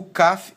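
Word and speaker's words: כ: dages que seria uma uma forma mais leve mais Branda mais fraca de de pronunciar a mesma letra que seria o nosso k a esse daqui seria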